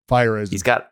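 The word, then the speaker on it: Feyereisen: How do you say his name? Fireisen.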